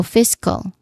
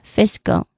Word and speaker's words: fiscal: So fiscal. Again. Fiscal. All right. Okay. The second syllable is unstressed and has a relaxed vowel sound because the primary stress here is on the first syllable fist.